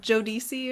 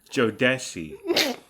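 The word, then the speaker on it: Jodeci: But don't you still listen to like Joe DC or whoever? Joe DC? Who was it? Did I say it wrong? Honey. How do you say it? It's Joe Desi.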